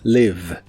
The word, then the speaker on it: live: El verbo vivir en el presente de inglés es live. Se pronuncia con la I corta que se parece un poco al sonido E, la V es labiodental y la E del final es muda. Live, live.